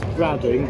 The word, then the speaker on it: Brading: It's spelt Brading, but it's pronounced Brading.